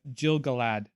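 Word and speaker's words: Gil-galad: but by the way i pronounced the name wrong for for for the king of uh the king of noldor it's uh jill galad so it's it's g-i-l-g-a-l he's the alvin king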